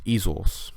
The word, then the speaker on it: izos: Pardon me for saying the I is a long I at the beginning. It's izos, which means her.